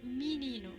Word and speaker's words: menino: Está escrito con E, pero los brasileros dicen menino con I.